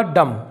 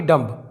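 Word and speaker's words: dumb: ऐसे ही ये होगा डम, ना कि डम्ब, यह है डम, जिसका मतलब होता है गूंगा।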